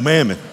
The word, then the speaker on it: Mammon: what Mammon is but you know Mammon right rhymes with famine but you don't know